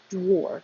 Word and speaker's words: dwarf: So dwarf, it looks like AR, but it sounds like OR, or dwarf.